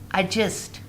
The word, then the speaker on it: adjust: The number first one is just adjust. Adjust. Adjust. It means that if we have any J after D, so we do not pronounce the word D.